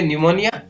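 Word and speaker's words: pneumonia: जैसे PN साथ में हो तो PN या PS से शुरू हो रहा है कोई शब्द तो उसमें P है वो साइलेंट रहता है, तो यहाँ पर इसको पढ़ेंगे न्यूमोनिया और साइकोलॉजी, इन दोनों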